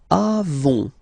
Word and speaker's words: avons: Then nous avons, final s not pronounced, avons, okay.